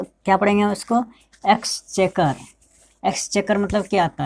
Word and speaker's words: exchequer: इसमें जो है क्यू का उच्चारण क के रूप में हो रहा है, हमेशा आपको ध्यान में रखना है।